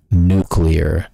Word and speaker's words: nuclear: Nuclear. And yes, I said it right. Nuclear. Not nuclear. Nuclear. Let's try to say that right, folks.